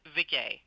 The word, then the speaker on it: Viguié: It's actually, it's pronounced Viguié. It rhymes with risque.